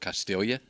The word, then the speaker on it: Castiglia: Would you say Albert Castiglia? For Albert Castilla? No, Okay, well, That's your G. there's your silent G.